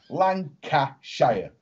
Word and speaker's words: Lancashire: Right, there's three syllables. Lancashire.